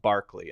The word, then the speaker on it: Berkeley: a really believer of berkeley i think it's pronounced barkley instead of burgundy okay yeah you are like